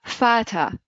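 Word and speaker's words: Vater: ب دبليو هي الفاو يعني ننطقوش عليها اف في الكلمه كيما فاتا ماي فادر بالانجلي فاتا بالالمان اوكي ماين فاتا نقول واضح دونك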